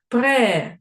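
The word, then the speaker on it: prêt: кінці слів не вимовляється пре пишеться прет читається пре Бо ти на кінці слів не вимовляється Ми теж добавляємо так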